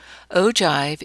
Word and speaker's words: ogive: Ogive is spelled O-G-I-V-E, but it's pronounced ogive.